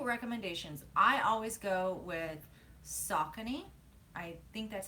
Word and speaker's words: Saucony: As far as shoe recommendations, I always go with Saucony. I think that's how you say it. It's Saucony because they last forever and they're also really inexpensive.